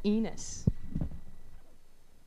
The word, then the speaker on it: Enos: Here they are, Kelly and Nate as ENOS (pronounced like penis without the P) * FOUR...